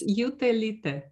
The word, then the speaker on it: Jutelyte: recording uh what is how do you pronounce your surname please because for me very hard to pronounce it uh it's utelite thank you very much